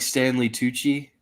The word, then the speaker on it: Stanley Tucci: like yep the dude from Kingsmen or like Stanley Tucci is that how you is that how you pronounced it yeah then um yeah yeah um